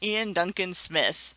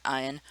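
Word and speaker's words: Iain Duncan Smith: Tori Member of Parliament Ian Duncan Smith hopefully I just pronounced his name right and it's not ion but if it is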